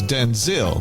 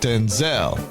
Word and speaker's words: Denzel: The legendary actor revealed the correct pronunciation of his name is Denzil, not Denzel.